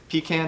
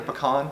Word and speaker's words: pecan: we have here is pecan or pecan which you prefer on how to say it oil from oliver farm